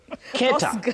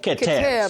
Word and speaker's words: Keter: cos keta instead instead of keter.